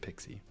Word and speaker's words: PKCE: It's actually said that you can pronounce it Pixie. So, everyone in the security in industry, you know, all of us in the know, we call it Pixie.